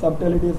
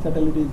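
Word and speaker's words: subtleties: The complex सटेलिटीज, इसमें B silent रहेगा, सब्टेलिटीज नहीं बोलेंगे, सटेलिटीज बोलेंगे, ठीक है।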